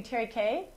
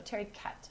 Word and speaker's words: Tariquet: do say I guess proper French would be cherry k I guess but to get in this region they actually use the end the last or they pronounce the last syllable so Terry cat ok our Terry k